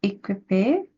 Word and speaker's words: équipé: pièce à vivre, toute équipée avec un clic-clac, une salle de bain et une petite cuisine. c'est bien. Attends. Pronunciation tip, whenever you have QU, replace it with a K in your head.